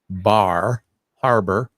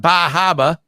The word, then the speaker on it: Bar Harbor: Mountain that's in bar I have to say it right Bar Harbor because in this part of the country we call it bah Haba but um yeah so